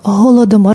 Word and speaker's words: Holodomor: Holo de mort avec H, on ne prononce pas.